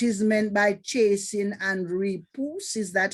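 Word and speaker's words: repoussé: a clue what is meant by chasing and repousse. Is that how you say it? Repose.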